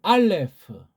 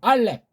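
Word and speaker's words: אָלֶף: 서양 발음 알레프. 우리 발음 알렙. 피읍 발음할 때 알렙하고 부드럽게 입을 닫는 것이 아니라 알렙. 세게 입을 아래 위를 딱 닫아야 이 피읍 받침이 나잖아요. 알렙하게 되면 바람이 빠져요.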